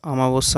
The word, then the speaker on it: অমাবস্যা: অমাবস্যা আমরা বলি কিন্তু সঠিক উচ্চারণ বা বানান অমাবস্যা। আ নয় অ এটা তোমরা অবশ্যই মনে রাখবে। এটা অনেকেই ভুল করে।